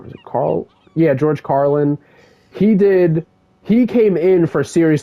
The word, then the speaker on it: Carlin: Then George Carlin, I think this is how you say his last name, George Carlin. Was it Carl? Yeah, George Carlin.